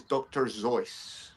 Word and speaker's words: Seuss: Now, because everyone calls him Dr. Seuss, I'll carry on calling him Dr. Zeus. Even though the correct pronunciation is Dr. Zo.